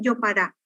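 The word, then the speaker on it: jopara: La palabra yopará se escribe con J, cuya articulación fonética en lengua guaraní es Y. O sea que así la articulación fonética de la palabra es yopará, porque se escribe sin tilde como todas las palabras agudas en guaraní. Toda palabra guaraní sin tilde es aguda.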